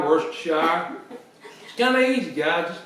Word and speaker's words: Worcestershire: have our favorite jelly sauce everybody loves to pronounce this word Worcestershire Worcestershire Worcestershire kind of easy guys just get used to